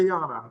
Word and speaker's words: Tayiana: Now, is it is it Tiana? Is that how do I say her name right? Yeah, Tayiana. Yeah, Tay is correct pronunciation.